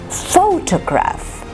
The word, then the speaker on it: photograph: common word is this so here you have photograph it's actually how many syllables let's count four toe graph three syllables and the first is stressed photograph so the second and